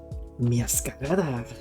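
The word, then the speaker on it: Meowscarada: Okay, now I need a picture of Miascarada.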